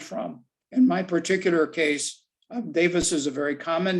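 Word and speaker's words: Dewes: german pronounced davis uh the w being pronounced like a v like an off feeder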